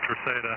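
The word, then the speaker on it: Terceira: Tercera. The Chief, Tango? Yeah, Tango, Echo, Romeo, C, Echo, India, Delta, Alpha. Romeo Alpha, yeah, Tercera. Okay. Yeah, she's going to Tercera, Jim. Yeah, the Portuguese pronounce it Tercera, and that's where the U.S.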